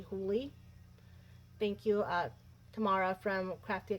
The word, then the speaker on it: Hooley: This is the one from Karen Hooley, who I have now realized I've been mispronouncing her name. It's actually Hooley.